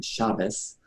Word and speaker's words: Shabbos: Now, you asked me about Shabbat, the Sabbath, Shabbat, or in Yiddish Ashkenazi pronunciation, Shabbos.